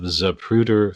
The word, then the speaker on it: Zapruder: Well, speaking of classic 8 millimeter reality footage, um, you put out some films under the name of Zapruder Flicks. Did I Yes.